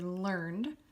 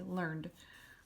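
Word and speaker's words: learnèd: But in English, if you just saw this word, you would say learned. So you're not pronouncing this last part, it's just going from the end of the D, learned. But if you want to call a man learned, you could add the grave accent.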